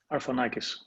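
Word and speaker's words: Arfanakis: you pronounce your last name vasantinos i always mispronounce it arfanikis that was pretty cool pretty close it was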